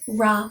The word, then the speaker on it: Ra: also see it as R a which is closest to the way that we would pronounce it in English.